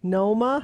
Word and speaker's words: Multnomah: He's criticizing your pronunciation. Multnomah?